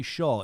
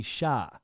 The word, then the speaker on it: Shah: It's not Shaw. It's Shah. Shah, like Shah.